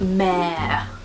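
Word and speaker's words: Mehr: This is Mare, which I never really know how to say. It's spelled M-E-H-R, Mare, and it looks like this.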